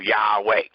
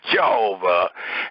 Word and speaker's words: Yahweh: h w h and two vowels are added to those continents and the two vowels as we all know are a and e which will give you the pronunciation of yahweh not jehovah not uh any other rendering um according